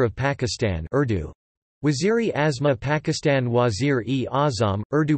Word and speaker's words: Wazīr-ē-Āzam: Wazir-e-Azma Pakistan Wazir-e-Azam, Urdu pronunciation, Z-R-E, Zim, lit.